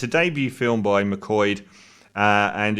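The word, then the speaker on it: McQuoid: box office to simon mccoyd it sounds like i'm mispronouncing that but that's such a weird spelling m-c-q-u-o-i-d mcqueen it's an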